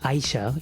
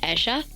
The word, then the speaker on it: Aisha: The thing with my name is it's actually pronounced Aisha. It's not necessarily like the Arabic origin, even though it's like related to it, sort of. It's more like on the Urdu sense, where like in Urdu